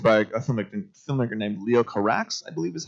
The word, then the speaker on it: Carax: Directed by a filmmaker named Leo Carax, I believe is how we pronounce it. Leo Corral.